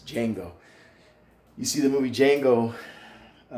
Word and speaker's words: Django: If you see the movie Django, the D is silent, so it's not the Django, it's Django.